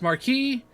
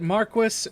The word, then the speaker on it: Marquis: I know it's pronounced Marquee the game pronounces it Marquis and apparently looking into it Marquis is an old form of saying the word Marquee so I'm just going